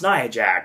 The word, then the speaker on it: Nia Jax: nia jax because i i read and it's pronounced niah jack so nia jax uh